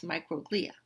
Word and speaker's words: microglia: Okay, then we also have the microglia. Now you can also pronounce this microglia. All right, so you can pronounce it both ways.